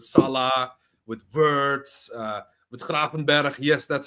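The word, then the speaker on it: Kerkez: Either he will go to Liverpool and would do the whole super team situation with Isach, with Salah, with Verts, uh with Kraen.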